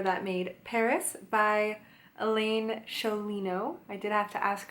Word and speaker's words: Sciolino: made Paris by Elaine Sholay no I did have to ask her how to say her name but it was Elaine Shirley no said the Italian way of the Sicilian way I believe so let's